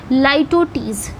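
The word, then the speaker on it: litotes: लाइटोटीज, देखिए उसको ऐसे ही उसको प्रोनाउंस करा जाएगा, लाइटोटीज।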